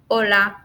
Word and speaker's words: hola: So remember, haber, helado, hielo, hola, you. So just don't pronounce it.